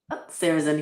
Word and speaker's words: Sarahzin: Sarahzin, yep.